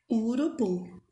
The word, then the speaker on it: urubu: temos aí a palavra urubu tão oxítonas são aquelas palavrinhas que a sílaba tônica é a última sílaba isso no caso da palavra urubu a última sílaba é a sílaba oxítona